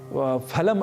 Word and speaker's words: फलम: से शब्द है फल तो हम फल को जैसे हिंदी में फल कह दिया करते हैं उसी तरीके से यदि हम फलम अस्थ ऐसा कहे तो संस्कृत में यह अशुद्ध उच्चारण होगा तो हमें अशुद्ध उच्चारण नहीं करना है और हमें शुद्ध उच्चारण करना है फलम फले फलानी ही